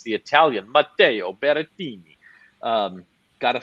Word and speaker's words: Berrettini: Second favorite is actually, I was a little surprised by this, but it's the Italian Matteo Berrettini.